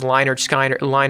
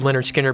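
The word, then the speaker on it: Lynyrd Skynyrd: I always thought it was Linard Skinard Skinard, something like that, but I heard Leonard Skinner before and I was like, "Uhoh, I've been saying it wrong."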